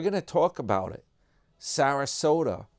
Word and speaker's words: Sarasota: Sarasota rhymes with Yoda.